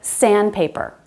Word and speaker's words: sandpaper: This happens in words like sandpaper, soundproof, landmark, windmill. We drop the D because it's between two other consonants.